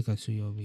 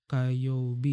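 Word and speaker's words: 火曜日: Kuyobi salah guys. Sorry. Ini bacanya Kayobi guys ya.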